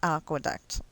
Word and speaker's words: aqueduct: It's aqueduct. It's not aqua. Aqua is like, you know, you totally said it wrong.